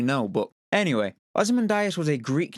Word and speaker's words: Ozymandias: I should point out that this name is also sometimes pronounced as Ozymandias, which is actually how I tend to pronounce it. Whether that's right or wrong, I don't really know, but anyway, Ozymandias